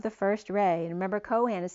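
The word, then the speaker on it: Chohan: Harvest almoria is the Kohan of the first Ray and remember Cohen is spelled many ways it can be spelled as the coin c-o-i-n or c-h-o-h-a-n or c-o-h-a-n like co-pilots and Han Solo but El Moria is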